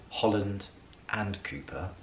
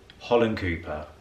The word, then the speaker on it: Holland Cooper: I also like to say Holland and Cooper, and Lydia always reminds me, Holland Cooper, Ali, wearing the Holland Cooper gilet now.